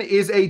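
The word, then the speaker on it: Islay: that's in your drink this is called an Isa Scotch it's it's spelled i s l a and uh so find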